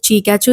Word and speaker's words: Chikachu: And what is the third reason as to why I named it Chikachu is because it rhymes with Pikachu, which I think is a similar terminology used in that Pokemon cartoon series.